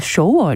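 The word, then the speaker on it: 首尔: 서울이 잖아요 울 뒤 지금은 이것을 저희가 쇼어 이라고 부릅니다 굉장히 흡사한 발음 인데 예전에는 이걸 중국식으로 1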